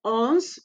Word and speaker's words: onze: Onze is not onze. Onze, the E is silent.